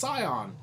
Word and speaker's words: Scion: think it's still pretty good sternal Scion is pronounced Sion s like die with an s on thank